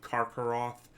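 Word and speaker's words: Karcharoth: Actually, it would be Barakin, because a CH in Tolkien is always pronounced as a K, like Karkaroth, the giant wolf outside of Angband, the original Morgoth's fortress.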